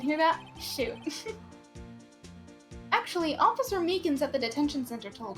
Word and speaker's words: Meekins: that shoot actually officer meekins at the detention center told us ah that poor little doggy poor guy keep getting his name wrong calling him meekly he told us something